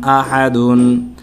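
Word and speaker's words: أَحَدْ: দাল দুই পেশ দুন আহাদুন কুফুয়ান আহাদুন এখানে দালের মধ্যে দুই জবর আছে যদি আমরা ওয়াকফ করি থেমে যাই তখন এখানে সাকিন হয়ে যাবে কলকলা করে শেষ করতে হবে পড়তে হবে ওয়ালাম ইয়াকুললাহু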